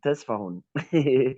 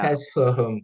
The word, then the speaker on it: Tesfahun: My name, Tesfahun. Uh, That was my father in Ethiopia. Yeah. No problem. No problem. Yeah. Test for Yeah. Tesfahun. Tesfahun. Yeah. Test for whom?